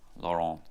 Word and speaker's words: Laurent: Laurent. Probably don't pronounce the T there, I'm sure.